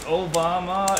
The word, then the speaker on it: Obama: My name is Obama, it rhymes with your mama.